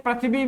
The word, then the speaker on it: पृथ्वी: अगर प्रथम वर्ण के उच्चारण में हल्का सा इ का उच्चारण होता है।